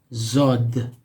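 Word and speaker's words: ضاد: Similar to this, it's called zod. Just like the previous one, it has a dot on top of it, zod.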